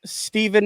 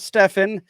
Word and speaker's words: Steven: I know, so we have another guy on the panel making his debut, and it's Steven, not Stefan.